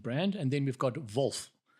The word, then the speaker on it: Wolf: And then we've got Vulf, which I think is the correct correct pronunciation for a German brand. Vulf, how's it spelled?